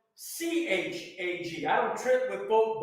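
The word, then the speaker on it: חג: So what we would say, because there's no English equivalent, K-H, that's how it's spelled in Hebrew.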